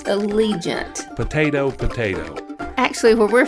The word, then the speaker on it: Allegiant: we fly on that alley giant plane it's pronounced Allegiant potato potato actually where